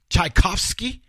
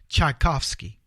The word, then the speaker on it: Tchaikovsky: Try to spell Tchaikovsky. Come on. Don't do it phonetically. Don't pretend you knew the T was there. Tchaikovsky.